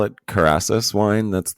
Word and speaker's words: Kerasus: don't know if you do you call it karasis wine that's like the brand name yeah it